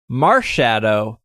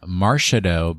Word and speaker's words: Marshadow: Well, I think you should be calling it Marshadow because it's obviously a extra crispy burned marshmallow. So pronounce it like marshmallow.